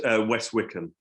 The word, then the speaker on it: West Wycombe: for the hanging, and West Wycombe, is that how you say it? Estate? It's West Wickham.